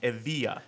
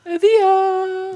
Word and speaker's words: Evija: It's pronounced it's spelled Evija, but according to Lotus, it's pronounced Evija. Evija!